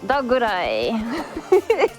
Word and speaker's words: Dogurai: Also, I need AirAngel to know that her flawless pronunciation of Dogurai is sending me. Oh, Dogurai.